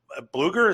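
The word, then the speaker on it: Blueger: They added really nothing, but they did shed, Riley Smith, Brousseau, Quick, and Bluger.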